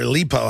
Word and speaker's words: Aleppo: Syrian rebels fire chemical weapons in Aleppo, or Aleppo, how they pronounce it, killing at least 25, the government is saying.